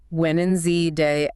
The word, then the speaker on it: Wednesday: When in Z day afternoon. Yeah, you naturally skip that D.